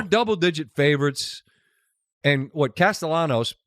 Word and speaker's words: Castellanos: And what Castellanos with pronounced with the L's, not Yanos, right?